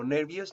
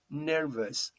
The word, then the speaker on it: nervous: repeat nervous nervous nervous i know that most of the time when you are all you you pronounce it like ow like when you say clouds or out but in this case nervous it's pronounced nervous nervous it's relaxed and relaxed sound by the end and well you are